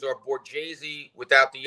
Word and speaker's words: Borghese: Our last names are Borghese without the H. Back in the day, they made Tony change his name because they said Borghese, it's too ethnic.